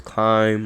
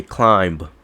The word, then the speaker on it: climb: Nobody spells climb like you're climbing up something. Nobody pronounces it with a B at the end, unless somebody that's really strict on pronunciation. Like you have to say climb.